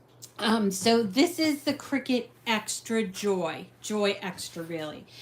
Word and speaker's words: Cricut: i c u t it sounds like a bug but it's cry cut and it's pronounced Cricket um and then you